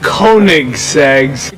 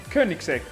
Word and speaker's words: Koenigsegg: the Koenigsegg Swedish Koenigseggs coning sex is pronounced Koenigsegg how there okay there we